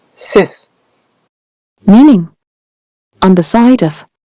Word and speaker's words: cis: circumvent circumnavigate Circ subscribe prefix c i s pronounced sis meaning on the side